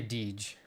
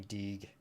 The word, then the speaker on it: Deej: I say Deej. Deej. It was a nickname growing up. Although I have heard people say it like Deej, like with a soft J, and I do have a friend that calls me Deeg. But it's Deej.